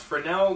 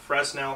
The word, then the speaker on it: Fresnel: versus sailor soldiers and that's pronounced fresnel not fresnel however it's a spell